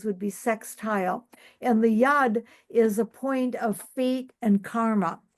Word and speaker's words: yod: Trine the tsquare the yud I think that's the correct pronunciation in Hebrew but it it's spelled